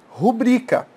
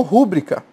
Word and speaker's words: rubrica: nós lemos essa palavra Nós lemos rubrica Mas algumas pessoas falam rúbrica falaram incorretamente por qu a sílaba atônica dessa palavra é bri certo se fosse rúbrica teria um acento aqui ser uma proparoxítona ah Professor então é